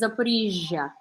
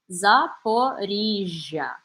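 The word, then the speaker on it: Zaporizhzhia: But Zaporizhia, so like garage, but if you were to say garage, like to like if garage had two G's and you had to pronounce both of them. So it'd be like garage, right? So it's Zaporizhia. Zaporizhia.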